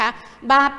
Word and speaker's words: บาป: คะ คำ ว่า บาป ป ปลา เป็น ตัว สะกด แต่ เวลา ออก เสียง เหมือน มี บ่ ใบ ไม้ นะ คะ เพราะ ว่า